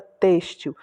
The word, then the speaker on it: têxtil: Essa última aqui é a palavra têxtil. O acento circunflexo também já dá a dica de que essa é a sílaba tônica.